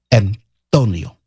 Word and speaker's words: Antonio: And the Antonio has a soft T. It's like THE. Antonio. Antonio Banderas. Antonio Villaraigosa. Antonio. I'm close. Wait. I'm guessing that. I'm guessing that Antonio probably felt that he won the divorce settlement.